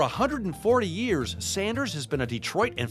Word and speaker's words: Sanders: for me all right is it Sanders or Saunders it's Sanders there is no you in it I was you know